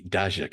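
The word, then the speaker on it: Daszak: uh one of the ideas came from Peter deac he daak as it's pronounced father's Ukrainian and uh he grew up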